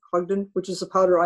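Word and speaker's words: Hodgdon: company that makes powder hog hog i can't pronounce that hud h-o-d-g-d-o-n ogden which is the powder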